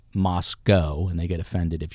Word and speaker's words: Moscow: the University of Idaho is it looks like Moscow Rush Hour Russia but it's pronounced Moscow and they get offended if you say Moscow so make sure you're saying Moscow and there's another College eight miles away which